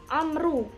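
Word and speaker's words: عمرو: Hai di sini dibacanya Amru ada Wow punya jadi bacanya Amru Kalau tidak ada wownya Hai bacanya Umar istri itu memang Alif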